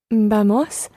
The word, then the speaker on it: vamos: Vamos a viajar a México. Muy bien. Vamos, the stress on the first syllable, vamos, and then the word for to travel is viajar.